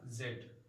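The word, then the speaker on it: Z: अप टू जी या जेड। ये दोनों प्रोनाउंसिएशन ठीक हैं। जी भी पढ़ सकते हैं, इसको जेड भी पढ़ सकते हैं। जी अमेरिकन इंग्लिश में है और जेड ब्रिटिश इंग्लिश में है।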